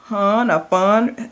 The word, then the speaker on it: Phan: Like I really enjoyed the Stone Cold Heart, and this is on Stella Lane and Michael Fun. His last name is spelled Phan, and he's Vietnamese and Swedish.